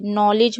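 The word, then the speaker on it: knowledge: नॉलेज में आप देख रहे हैं नो अलग होता है, लीज अलग होता है, इसलिए यहाँ पर भी हम देख रहे हैं इसमें के साइलेंट है और इसमें डी साइलेंट है।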